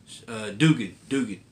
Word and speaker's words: Duggan: Next is another book I can't wait to read, and writer is Jerry Duggan. Dugan. I Googled his name and asked Google how do you pronounce his name, and they gave me the right pronunciation.